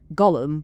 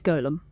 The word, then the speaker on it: golem: And I think it is pronounced golem because it's spelt G-O-L-E-M rather than Gollum, which is kind of what most people will use to like refer to it, which is obviously the character from Lord of the Rings, spelled G-O-L-L-U-M.